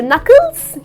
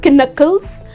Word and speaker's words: knuckles: Well, your knuckles, yes, so when you write it, you write it with a K, but when you pronounce it. It’s not kinuckles. It’s just knuckles. The letter K is silent.